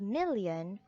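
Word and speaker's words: milyon: filipino it is still million but it has different spelling we have here m-i-l-y-o-n it is pronounced as million in english it's million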